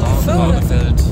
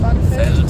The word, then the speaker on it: Barneveld: Wird ein V weich oder hart ausgesprochen? Also Barnefeld. Barnefeld. Ja, Feld. Feld. Und gehen noch irgendwas Nices essen.